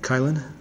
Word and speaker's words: Kylin: that in fact and kylin uh chilin is just a chen see I can't I don't I don't do the opinion pronunciations yeah it's uh it's Chillin CH chill um it is a